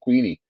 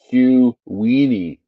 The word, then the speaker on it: Queenie: Nightbot says Queenie is pronounced Q Weenie. Oh, that's right. It is. It's not Queenie. It's Q Weenie, and that's the spelling of her name there.